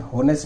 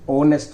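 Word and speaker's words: honest: देखिए इसका क्या बनेगा, इसका तो वेरी सिंपल बन जाएगा, ही वॉज a very ऑनेस्ट मैन, होनेस्ट नहीं ऑनेस्ट मैन, एच साइलेंट रहता है, ही वॉज अ वेरी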